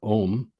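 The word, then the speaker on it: ogham: look into some of the mythology of the ogum or om um as it's pronounced um it is said that agma the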